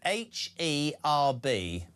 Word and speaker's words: herb: H-E-R-B.